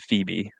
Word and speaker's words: Phoebe: Elizabeth and Phoebe. Stevie? Stevie. Stevie. Well, no, spell it out.